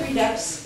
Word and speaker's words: Redux: I looked up Redux in Wikipedia, and it is pronounced that way, rhyming with deluxe, but it means to bring back, to revisit.